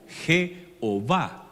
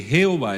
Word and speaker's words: Jehová: Nosotros, como nuestro idioma debe llevar vocales, no solamente consonantes, entonces se le tradujo como Jehová, y en inglés Jehová, Jehová, que se escribe igualito, Jehová o Jehová en español.